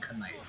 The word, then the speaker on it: knight: You guys have realized that it's the K silent in Knight.